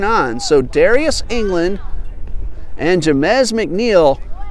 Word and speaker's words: Jamez: So that is Jamez, I'm told, is a correct pronunciation. I've been calling him Jameezy all afternoon.